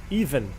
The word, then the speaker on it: Ivan: Try to pronounce it as if I was Russian. Sorry. It's even. Even.